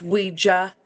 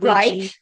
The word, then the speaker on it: Ouija: Um, and it's pronounced Ouija, not Luigi.